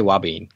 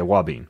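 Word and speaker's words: ouabain: You mentioned something else called, I don't know if I'm going to pronounce this right, wabane? I say wabane. Okay. Wabane.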